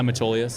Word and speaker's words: Metolius: Yeah, Metolius.